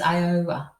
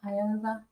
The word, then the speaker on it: Iowa: So the answer is Nebraska, B is Kentucky, C is Maine, D is Iowa. Is that how you say it? Iowa? Iowa.